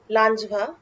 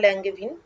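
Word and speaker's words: Langevin: Of paramagnetism developed by লাঞ্জভা বা ল্যাঙ্গেভিন, যে যেরকম উচ্চারণ করে।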